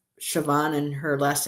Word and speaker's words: Siobhan: You know, the way it's spelled in in Gaelic is it looks like it's Sabon or whatever, but it's um Siobhan and her last name is Walking Stick.